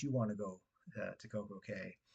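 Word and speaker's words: CocoCay: want to go to Koko K, Coco Key, I think is the technically way the way to say it.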